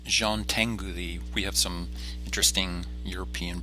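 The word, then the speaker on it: Jean Tinguely: work within these limitations the next artist is pronounced Jean Tengu thee we have some interesting European pronunciations this week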